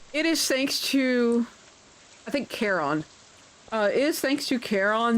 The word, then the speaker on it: Charon: And that's when I ended up with, I say it Charon, or Charon. Apparently some people pronounce it Karen.